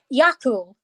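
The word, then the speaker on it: Eagal: also got this daft dog called Yakul, and Yakul is spelled E-A-G-A-L.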